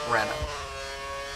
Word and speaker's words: Renault: He had one good season in Formula Renault 3.5, and I know people are going to be saying you should pronounce it Renault, but I'm an American, and I'm going to pronounce every letter.